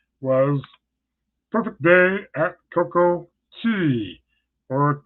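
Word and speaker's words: CocoCay: The next day, my last port of call was perfect day at Coco Key, or Coco Cay to some of you. Of course, Coco Key is the correct pronouncing.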